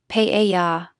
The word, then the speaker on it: paella: Note that has a subtle emphasis on the first syllable, paella.